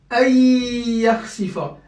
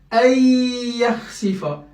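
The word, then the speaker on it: أن يخسف: Le nun, il disparaît dans la prononciation. Par contre, je rajouterai une shadda et j'appuie 2 temps. Ayyakhsifa, ayyakhsifa, ayyakhsifa.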